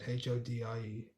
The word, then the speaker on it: hodie: And then Hotel California, Hody. That's how you pronounce it, Hodie, which means this day.